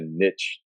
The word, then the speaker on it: niche: I mean, it's still kind of like a niche thing, For sure. Or, I mean, niche. Is that how you pronounce it?